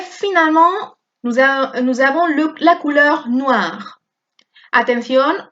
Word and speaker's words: noir: Et finalement, nous avons la couleur noire. Atención, OI siempre se pronuncia wa, noir. Un anorak noir, une robe noire, des escarpins noirs, des chaussettes noires.